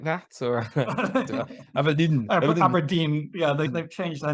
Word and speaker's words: Abrdn: Or Abrdn? Abrdn, yeah, they've changed their name to remove all the vowels.